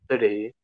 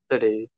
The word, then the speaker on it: city: those minerals very good so another word where we kind of say the t kind of like a d using that flap t we would say instead of city we would say city city yeah very good i'll